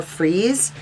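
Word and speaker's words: Freas: science fiction illustrator frank kelly frias or freeze it's spelled with an a originally designed for an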